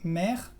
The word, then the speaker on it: mer: El primer caso es cuando la E está antes de una consonante final pronunciada. En general son palabras cortitas, por ejemplo, mer, que es el mar, o también hier, que es ayer.